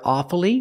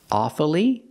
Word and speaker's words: awfully: one strange word awfully sometimes you'll hear awfully with three syllables awfully but it's more common to hear awfully with two syllables examples I'm awfully sorry